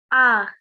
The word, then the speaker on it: ع: Ah. Good. Now try and pronounce this a bit different to how you pronounce a simple alif. So this one needs to be made from the middle of your throat, this sound.